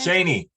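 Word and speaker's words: Cheyney: Cheney.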